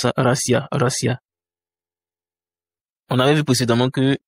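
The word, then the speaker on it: Россия: Ici l'accent tonique est sur le I et il y a trois voyelles donc trois syllabes ra siia. Il faut faire attention au niveau de sia racia.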